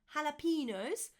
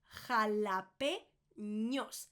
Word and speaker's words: jalapeños: Not jalapenos, jalapeños. It's got that ñ in there. The ñ is rather important, as you might know by now.